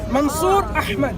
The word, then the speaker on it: Mansur Ahmed: Can't tell what's my name exactly the way my name is to be pronounced. Mansur Ahmed.